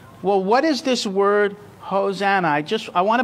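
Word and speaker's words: hosanna: word it's h hosana this is how you say it in Hebrew hos so the first part is hosha hosha hosha the second part is n now interesting I want to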